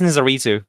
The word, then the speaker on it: Nizaritoo: It's pronounced Nizaritoo, but nobody goes Nizaritoo.